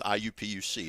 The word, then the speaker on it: IUPUC: I'm like, no, there's nothing to do with Indianapolis. Correct. It's IUPUC is how you say it.